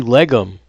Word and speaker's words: Legum: Okay, so it's leg plus gum again. You get rid of the second G, legum.